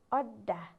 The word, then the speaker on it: अड्डा: त्यस्तै गरेर अर्को शब्द अड्डा, अड्डा हो। आदि ड छ, त्यसैले हामीले अड्डा आधा अक्षर उच्चारण गर्यौँ।